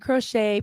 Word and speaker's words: crochet: probably crochets right and crochet pronounce crochet from the French that's right yes so